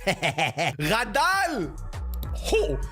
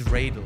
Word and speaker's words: Radel: But he's been complaining to me that everyone mispronounces his name. It's Radel. Radal this, Radal this. It's Radel. Get it right.